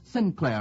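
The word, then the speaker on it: St. Clair: The next is Sinclair, I believe it's pronounced, but spelt S-T-C-L-A-I-R. The man who invented that name could spell better than he could pronounce.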